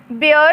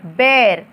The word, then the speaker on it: bear: ठीक है, अब ये जो स्पेलिंग है उसके हिसाब से BEAR बियर होना चाहिए था, लेकिन इसे प्रोनाउंस किया जाता है, इसका उच्चारण होगा BEAR बेर।